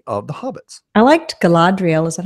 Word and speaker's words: Galadriel: little the community of the hobbits I liked Galadriel is that how you say her name yes